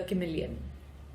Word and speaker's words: Chameleon: Cha to sound like car, said the manager.